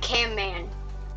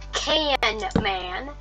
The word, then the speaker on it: Camman: but definitely not Cam man and everyone keeps calling him canman but he's camman but but just because